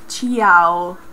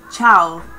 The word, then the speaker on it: ciao: mamma mia um and it's not chiao because we don't have uh like we don't separate is ciao is one time you have to say the word in one time not three not two one time so you don't have